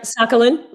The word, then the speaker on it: Sakhalin: That's right, Sakhalin. Mm-hmm. Sakhalin. Okay. Mm-hmm. I've heard it pronounced different ways.